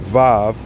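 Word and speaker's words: ו: So look, this 6 right here, Vav, that's how you say it, Vav, that V, those are, so in French, a W is a double V, W, okay?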